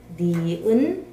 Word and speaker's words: 니은: 기역, 기역, 니은, 니은, 다음에 디귿, 디귿, 리을, 리을, 미음, 미음, 비읍, 비읍, 시옷, 시옷, 이응, 이응, 지읒, 지읒, 시읒, 시읒.